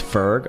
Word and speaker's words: Ferg: Ferguson sorry say that with respect okay it's Ferg all right I spell it f-e-r-g Ferg Ferg um